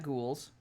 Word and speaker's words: ghoul: We got ghouls. Remember, ghouls. Look at that boy. He's just so hungry. Arm. And for those of you who don't know, according to Matthew Mercer, ghoul is pronounced Ghoul.